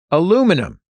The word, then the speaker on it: aluminum: spell the word aluminum my husband Kyle insists that aluminium is correct I know that's how they say it in the UK but Kyle and I have lived in the US our entire lives I say it's pretentious to ask for the aluminium foil he says the rest